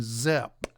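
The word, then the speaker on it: Szep: And his name is Jason Zepp. I guess it's a Hungarian name. You spell it capital S-Z-E-P. Jason Zepp.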